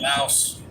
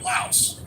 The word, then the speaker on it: Laos: Except I learned that the people from Laos say they're from Lao. Lao. The S was added and it was Americanized. The French spelled it Laos but pronounced it Lao. And then the Americans got a hold of it and called it Laos.